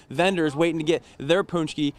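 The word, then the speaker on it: pączki: punch key although hey some of you at home are gonna say it's ponch key I know there's a lot of Polish viewers out there say hey say it right Matt a lot of people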